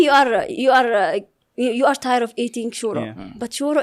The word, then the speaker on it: shiro: So only for these stuffs, like maybe you are tired of eating shuro, but shuro, it's a VIP dish in that place. Shiro? Shiro? Okay, yeah. You said it right.